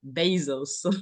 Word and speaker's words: Bezos: Jeff basos said that many people do mispronounce my name and said he said well it should be pronounced like this Jeff Bezos this right from his